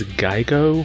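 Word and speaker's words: GiGO: market, they will be rebranded as Geigo, I think it's the way it's pronounced, G-I-G-O.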